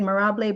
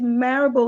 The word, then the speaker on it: Marable: your name Dr Sharon I said morable but she said is marable like Parable so Dr Sharon Parable